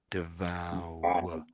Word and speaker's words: devour: The V and then the W sound. Devou devour. Right. Yeah. It's tricky, isn't it? It's not obvious. It's not obvious that sort makes sort of makes a W sound, doesn't it?